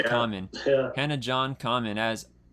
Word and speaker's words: Kamen: Sometimes you want to say Carmen because you think the R's are, but it's Yeah. Kamen.